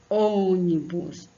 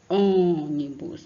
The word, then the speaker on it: ônibus: Então, nesse caso aqui tem âncora, ônibus, ônibus, ó. A sílaba aqui, no caso, é só o O, tá? Ele fica sozinho.